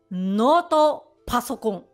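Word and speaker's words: ノートパソコン: Okay, the first one is Noto Pasokon. Noto Pasokon. Oh, you need to, you know, you need to pronounce it very harshly, like Noto Pasokon.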